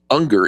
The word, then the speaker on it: Unger: thing is um Allan anger who's the president of critical Capital Management agrees with you Eric yeah because his name's younger and it rhymes with younger he believes that a